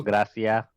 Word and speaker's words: Gracia: Gracia. Gracia is like gracias, but without the S.